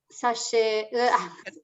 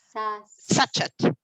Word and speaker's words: sachet: 500 grams strong bread flour, 1 teaspoon salt, and 75 grams custard sugar, and 7 grams sachet. How do you say? Sachet.